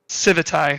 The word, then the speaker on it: Civitai: He says that it's pronounced Civitai, so we're just going to go with that.